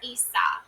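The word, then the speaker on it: Isa: Um interpreting the rooms pronounced Issa.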